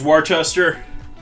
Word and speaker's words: Worcestershire: it and olive oil i probably mispronounce e8 i think of it as warchester as in the location in the uk worst chester shire that's how i try to pronounce it but it isn't how i pronounce it when i'm not thinking about it not